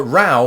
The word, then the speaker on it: row: gonna have a route with a quarrel but rau with that pronunciation and indeed that definition is not to